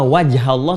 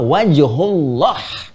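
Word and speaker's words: وجه الله: kau menghadap fma wajhullah lihat cara bacanya perhatikan betul cara baca lihat harakatnya bukan fma wajhallah tapi fma wajhullah ya perhatikan baik-baik ketika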